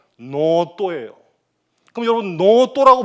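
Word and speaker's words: ノート: 발하는구나 칠판이 없어 유감입니다 그런데 일본어로 노트를 적으면 어떻게 됩니까 가닥 하나로 요렇게 하고 하픈을 긋고 요렇게 해요 읽으면 노또예요 그럼 여러분 노라고 발음하면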